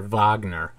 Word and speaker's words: Wagner: moves by the way I used to call Wagner Vagner it's the real pronunciation idiots don't know how to pronounce their own name both Mills and Bingham